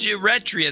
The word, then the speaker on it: Eritrea: It's pronounced Eritrea. That's the way it's pronounced. I've always pronounced it that way, and I've been disturbed by all these mispronunciations I've been hearing on the media.